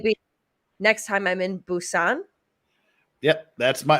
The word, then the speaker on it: Busan: Next time I'm in Busan.